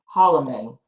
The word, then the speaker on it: Holloman: It's Judge Cassandra Holloman or Holman? Holloman. Holloman.